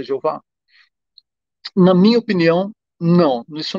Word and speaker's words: Jeová: questão de usar a pronúncia yavé ou a pronúncia yehova ou a pronúncia eh yá que aparece na estu artênia ou alguma outra pronúncia e e deixar de lado a pronúncia Jeová Na minha opinião não